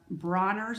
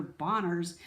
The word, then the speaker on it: Dr. Bronner's: Bronner's I want to pronounce his name righty they called him dr. Bonners when I made my video on the bathroom so it's dr. Bronner this is castile soap